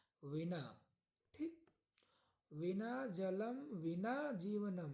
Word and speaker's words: विना: पर आता है बिना इसका उच्चारण देखिए ये हिंदी में होता है बिना और संस्कृत में लिखा मतलब विना ठीक विना जलम विना